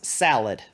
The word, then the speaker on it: slaad: the answer you're right the answer is salad because it's spelled s-l-a-a-d okay did each of